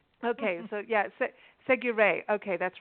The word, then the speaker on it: Séguret: Seguret, I told you it rhymes with hooray, and I think you were thinking it rhymed with hurrah, so it's Seguret instead of Segura, but that's the only detail.